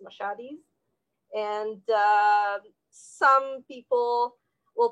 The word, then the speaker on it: Mashhadis: is because that that's uh transliteration but it's machadis and uh some people will pronounce it meshediz or uh um because mashad might be pronounced